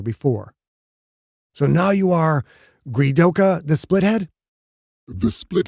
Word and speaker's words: Gredok: no longer i am gridoka she changed the pronunciation slightly gridok was now greedok the ah sound like